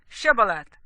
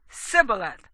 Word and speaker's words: shibboleth: would say to him please say shibboleth and he would say sibyllath for he was unable to pronounce it right then they seized him